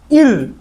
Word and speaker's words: eerie: সেটা আরো ই ই আর আই ই, কি উচ্চারণ হবে, ইর।